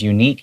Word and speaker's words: unique: unique sight Remember because unique Even though it starts with a U It's pronounced with a Y sound Okay, so that's why